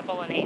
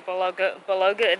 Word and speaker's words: bolognese: I've heard people say bologa. They try to say the G. I don't think you're supposed to.